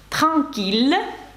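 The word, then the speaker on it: tranquille: віллль не Вій як можна подумати але Віллі танкілля спокійний такійлля та слово Мілль 1000 Мілль це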